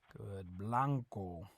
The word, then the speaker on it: blanco: a white in Spanish Blanco Blanco remember that the a always makes an ah sound Uncle Blanco it's not